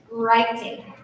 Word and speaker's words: writing: There's a silent W at the beginning.